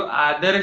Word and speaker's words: आदरः: और अंतिम जो आदर शब्द में अंतिम विसर्ग है उसका उच्चार कैसे किया? आदरः। यहाँ पे उच्चार पूरा किया है आदरः, और बीच में जो